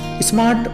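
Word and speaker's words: psalm: हैम में N silent है और साम में पी साइलेंट है।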